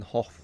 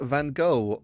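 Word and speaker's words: Gogh: Van Hawk's death now why am I pronouncing Hof like that why not van go or van go because those are inaccurate and I must strive for completely accurate local pronunciations of names even though no sane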